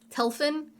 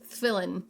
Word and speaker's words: Tefillin: But when I looked up the pronunciation, Flynn. what was it? Telfin I was like, that's not right. It's not Telfin. Flynn. So the... Tefillin.